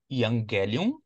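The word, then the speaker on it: εὐαγγέλιον: Evangelho é uma palavra grega que se pronuncia evangelion, e é a junção de ion, que quer dizer bom, e gelion, que quer dizer mensagem.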